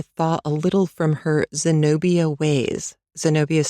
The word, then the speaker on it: Zenobia: So, she's been very foo with me for a long time and is only beginning to thaw a little from her Zenobia ways. Zenobia is spelled Z E N O B I A.